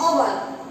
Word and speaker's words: hour: Example: an hour. Here h is consonant, but we read this word from o u r. Our, and h is silent here.